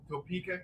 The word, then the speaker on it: Topeka: We're coming to you live from a hotel in, help me, guys, help me pronounce the name of the place. Topeka, Kansas.